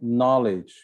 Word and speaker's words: knowledge: island no s right knowledge no k listen no t so